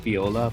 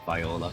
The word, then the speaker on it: Viola: for sure i know her name is pronounced viola but i'm i'm swear to god i'm going to be pronounced as biola viola here's the part that